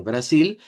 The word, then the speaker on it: Brasil: Cuando decimos Brasil con acento portugués de Brasil decimos Brasil. Brasil. Cambiamos la L por U.